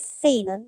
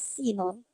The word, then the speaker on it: Sinon: Maybe we okay, because last time I remember I asked the voice actor to do a correction because the name is not pronounced as Sainan but it's Sinon.